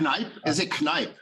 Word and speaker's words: Kneip: my lab um yeah you have been pronouncing my name correctly it might even have been one of the the best pronunciations you produced for all the names you mentioned today is it knife okay thank you I'm from I'm from Luxembourg so it's a it's a German last name yeah I will present